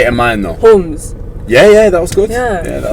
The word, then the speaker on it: Humz: How do you say Humz? Humz. Yeah, in my accent. Yeah, in your accent. Yeah. It's like Humz. Try say it in mine though. Humz.